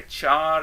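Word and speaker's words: char: उसके बाद जो डेटा टाइप है वो है चार या कार। मैं इसको चार प्रोनाउंस करूंगा ट्यूटोरियल्स के दौरान में।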